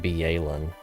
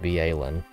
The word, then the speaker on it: Byelen: probably by glacio that viin is actually pronounced be alen I don't know why